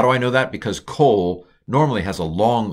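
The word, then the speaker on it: כל: So kol, this is a kamatz katuf. It's an O. It's just an O without a long mark. It's a regular O. How do I know that? Because kol normally has a long O.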